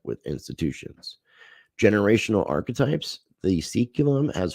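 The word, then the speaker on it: saeculum: turning, a life-changing period of crisis that marks seculum. I had to look up how that word was being pronounced.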